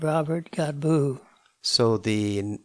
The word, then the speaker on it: Godbout: ethnicity is God well the name God bat should should be pronounced God boo when I was growing up my dad got tired of explaining to people that he just changes they've and I changed my name also so I go by